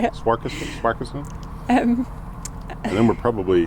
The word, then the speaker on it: Swarkestone: in Swarkestone? I'm glad you know how to say it. Swarkestone?